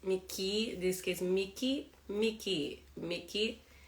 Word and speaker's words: Mickey: Mickey Mouse yeah again the word ending with E and Y you say just Mickey this case Mickey Mickey